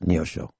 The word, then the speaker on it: Neosho: And they've got some shows this weekend, February 8th and 9th, Neosho, Missouri, Neosho, pronounced Neosho, Missouri.